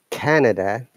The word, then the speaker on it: Canada: In Canada, our stress is on A, Canada. And you may have noticed there is a short sound after N.